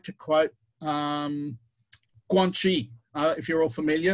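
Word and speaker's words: 关系: like to quote um guanxi uh if you're all familiar or guanxi as the chinese like to pronounce it um most westerners think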